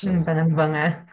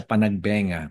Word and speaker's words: Panagbenga: ahal das Marias ung ah Alam mo ang pronunciation non is panagbangga Panag Panag banga Panag banga hindi siya Panagbenga kundi Panag banga Panag banga means it's the